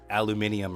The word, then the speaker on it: aluminum: so it's it's just it's literally aluminum phonetically pronounced that way. Other lesser countries, other countries put the I after the N. So it is aluminium or whatever, but we don't have the I there.